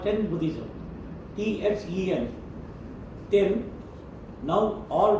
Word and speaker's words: Then: Ten, now all pronouncing as Zen, Z-E-N.